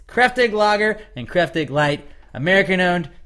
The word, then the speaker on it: Kräftig: It is spelled Kraftig, but pronounced Kräftig, and it is made with simply the best ingredients available to any brewer.